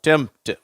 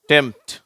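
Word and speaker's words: tempt: மாதிரி வந்திருக்கு பார்த்தியா பார்த்தீங்களா அப்ப இதை நம்ம எப்படி உச்சரிக்கிறோம் டெம்ட் அந்த பி என்ற உச்சரிப்பு வரதில்லை அட்டெம்ட் சிம்டம் ஓகேவா டெம்ட் அட்டெம்ட் சிம்டம் அடுத்தது பாருங்க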